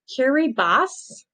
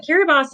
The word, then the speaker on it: Kiribati: how to say this i believe it is kiribas instead of bhati i think it's kiri boss might be that might be right but kiribati is one of the